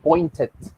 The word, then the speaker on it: pointed: that are regular verbs, here we have a word that ends with the letter T and then it has the ending ed. That's why it is pronounced pointed.